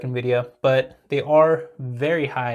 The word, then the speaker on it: NVIDIA: think I made that mistake this time so in video and video is obviously a great stock they